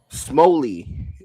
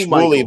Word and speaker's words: Shmuley: So you know, Smoley, the rabbi, the Zionist rabbi. Of course, I know who you're talking about. Yep. Yeah. So I think it's pronounced Shmuley, but I know who you mean.